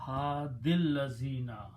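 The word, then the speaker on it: هادي الذين: Okay, pronouns don't change, so this will become ha, and ya is not pronounced anymore. So hadil lazina, guide for those or guide of those.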